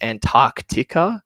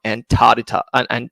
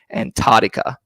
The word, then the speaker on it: Antarctica: uh live stream is it's Antarctica not antara Antarctica because there's so many people that leave that sea out in the middle it's antar an I can't even say it properly Antarctica that's how a lot of people from the states will call it and it's wrong it's Antarctica um if if there's anyone